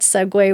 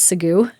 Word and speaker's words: segue: She learned in her podcast that segue was spelled as Segu. So she always pronounced it as Segu.